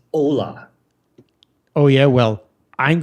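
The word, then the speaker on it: Olá: you said the word Hola when you were talking about the game in Brazil Spanish bro yeah Spanish they speak Portuguese second the H is silent it's Ola oh yeah well I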